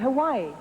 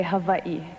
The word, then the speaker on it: Hawaii: it i call it hawaii well if you want to be very technical you would say hawaii because the hawaiians pronounce their w's as v's now it sounds a